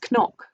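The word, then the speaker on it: cnoc: think it'd be pronounced nyok or an noc um like knock natural which is the hill of the hostages um but i think the gaelic pronunciation technically is knock um mila ben tor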